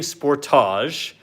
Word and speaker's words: Sportage: mark one quick thing if you're American and you hear me saying Sportage I'm actually saying it correctly we film here in Canada This Is How They say it here I'm just saying it